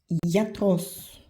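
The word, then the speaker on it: γιατρός: Et gamma avec les lettres I, avec ita, y et iota, ça se prononce comme I. I. I. Exemple, iatros.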